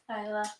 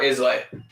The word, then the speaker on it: Isla: Isla. But like, what do you name? Like, I really like the name Isla, but like, what is the middle name? And everyone is gonna call her Islay.